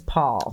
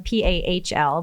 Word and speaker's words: Pahl: And this works out great because my last name is Paul. Right. So Paul, this is for you. Mine is spelled a little bit differently. I'm Pahl, but I'm Pahl.